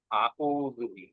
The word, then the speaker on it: أعوذ بالله: আউযুবিল্লাহ আইনটা কিন্তু আপনার ঠিকভাবে আসে না, এটা এটা ঠিক করতে হবে। আউ না, রু রু আইনটাকে চাপ দিয়ে। হ্যাঁ জি, জি, জি। আবার বলেন। أعوذ হ্যাঁ হ্যাঁ, এটা সারাদিন